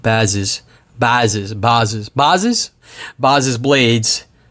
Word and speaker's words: Bazes: cut the bell peppers but Andrew it's actually pronounced buzzes buzzes buzzes buzzes buzzes blades assured me it's